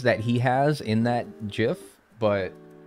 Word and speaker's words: GIF: he has in that gif but it's like and he does like the white people smile yeah is GIF with the J all right I say it like how the creator of gifs said that it's [ __